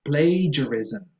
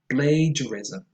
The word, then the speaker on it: plagiarism: Plagiarism. Plagiarism. Plagiarism. Not blah, but play.